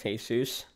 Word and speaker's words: Jesus: like my name is it's not a very common name either it's hey soos it's like I relate